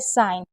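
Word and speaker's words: sign: Rule number 16 है कि जब भी जी एन साथ में होगा तो जी को नहीं पढ़ा जाएगा। जैसे हमेशा जी साइलेंट रहेगा। जैसे साइन जीएस से पहले अगर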